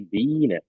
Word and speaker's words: Biene: Nah, ini kalau huruf I bertemu E, maka dia dibacanya tetap I tapi panjang I-nya ya. Jadi seperti ditahan. Jadinya di sini bacanya apa? Bine ya. Bine ya, jangan dibaca Bine tapi Bine ya.